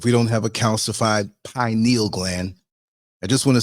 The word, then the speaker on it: pineal: just want to say it's pronounced pineal, not pineal, okay? It sounds so ignorant when I hear people say pineal. It's not a needle, it's a gland, pineal, okay?